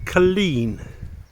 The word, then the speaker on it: Culzean: I've spoken to a really nice lady who works here and apparently it's pronounced Culzean. Um but nobody knows until they're told.